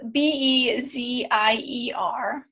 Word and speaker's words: Bezier: Bezier is spelled B-E-Z-I-E-R, the Bezier game.